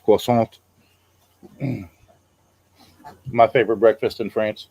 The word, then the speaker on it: croissant: They order a pastry and they're like croissant, and then you just get all these dirty looks because it's pronounced croissant.